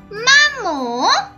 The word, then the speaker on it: maman: the end of mammal and you do not pronounce it so it became la mamo it means dummy it means my mommy you